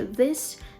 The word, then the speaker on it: this: з this тому що this на кінці звучить звук S А these є трошки